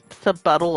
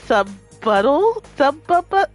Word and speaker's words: subtle: Not very sub subtle of you. Hey, what you what subuttle? Do you think the word subtle is called pronounced subbuttle? Subtle. Subtle is in subbuttle.